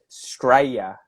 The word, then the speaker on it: Australia: people say Straya, so they'll just get rid of the Australia. schwa and they Australia. just say Straya, Yeah. Straya.